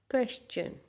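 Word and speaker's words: question: क्वेश्चन, क्वेश्चन, चन आ रहा है पीछे, चन, चन, चन।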